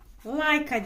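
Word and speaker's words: Laika: giden ilk canlı kimde like adında bir köpek like diye okunuyor Aya ilk ayak basan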